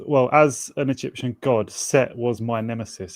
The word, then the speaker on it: Set: Just Well, as an Egyptian god, Set was my nemesis. There's no H on the end, but you could imagine there was original Egyptian Seth. Sorry. Yeah, Seth was sometimes spelled with a H.